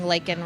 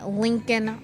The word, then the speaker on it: Laken: You have heard nothing from the mainstream media about President Biden not saying Laken Riley's name, waiting until Marjorie Taylor Green, the